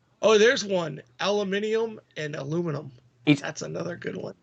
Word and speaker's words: aluminium: So they're saying aluminum, whereas if they was going to pronounce it that way, it should be aluminium.